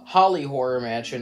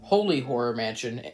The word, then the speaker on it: Holy Horror Mansion: before this video starts I called it a holly horror Mansion instead of holy horror Mansion throughout this entire video like an idiot so